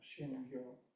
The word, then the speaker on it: Shingyo: Shingyo. O is not quite O. It's more O. It's a flat O.